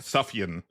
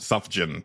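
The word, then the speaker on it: Sufjan: I've heard it pronounced Suffion. Okay. Uh John Goulson actually gifted me that album. He pronounced it suffin, but I think that's incorrect.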